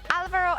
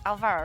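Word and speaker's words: Álvaro: it, but I believe there is normally an accent on the A, but you don't see it in the in-game nickname, so it's Alvaro and not Alvaro, right?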